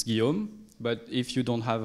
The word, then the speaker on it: Guillaume: uh as for my name close enough it's guillaume but if you don't have a um if you don't have the inspiration to pronounce it properly you can just call me